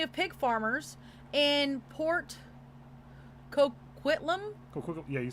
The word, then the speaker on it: Coquitlam: So, Robert William Pickton was born to Leonard and Louise Pickton, a family of pig farmers in Port Coquitlam.